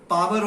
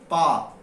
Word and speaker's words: power: Then he says the power, he uses the word power of the two nations, India and Singapore, he says. It's not power, it's par. Okay, par. To power, you say par.